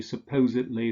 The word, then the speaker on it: supposedly: So if the main stress falls on the syllable that precedes the ed-ly ending, we say idly. Allegedly, markedly, confessedly, deservedly, supposedly, fixedly, advisedly.